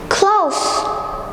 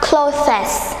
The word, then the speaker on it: clothes: like chocolate number two close close close not closest not closest it's close close so it is a silent letter so we don't burn on it we cut it out so for example she